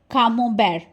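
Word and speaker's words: Camembert: This is brie and कामोबेर। टी is silent here.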